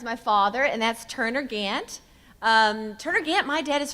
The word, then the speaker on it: Gant: father, and that's Turner Gant. Turner Gant, my dad is from East Texas. He's from Athens. Turner Gant. He was so proud of the Gant lineage, spelled like Gaunt, G-A-U-N-T-T.